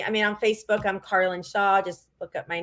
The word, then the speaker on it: Carlyn: everything is connect with Carlin and my name is spelled c-a-r-l-y-n yeah um it's like Carolyn but no o so my Instagram handles